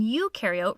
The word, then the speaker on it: eukaryote: rhymes with no and you in eukaryote rhymes with do prokaryotic cells have no